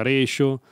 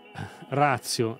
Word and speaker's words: ratio: Unicorn Air, dici che si dice ratio, non ratio. La parola deriva dal latino, quindi la pronuncia corretta sarà ratio, però gli americani dicono ratio e quindi diciamo ratio per convenzione.